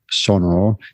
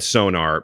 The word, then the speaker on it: Sonor: saying oh come on I have said sonar my entire life and I I I think it's wrong I mean I know it's wrong but what what do